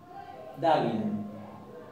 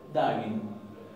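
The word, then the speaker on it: daginn: Pero si tenemos esta palabra, que quiere decir el día, la vamos a pronunciar como una N. Dagin. Dagin.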